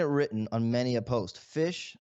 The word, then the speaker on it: Phish: Fish, obviously spelled PHISH, the legendary band.